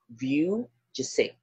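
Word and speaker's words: Vujicic: the name is Nick Vi so they Pronounce pronounce this last name as viw jic Nick Sorry Nick bu success story by Muhammad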